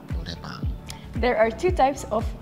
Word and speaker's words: Noraebang: In Korean, it's Noraebang. Noraebang. Noraebang.